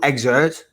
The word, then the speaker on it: excerpt: You don't pronounce the P.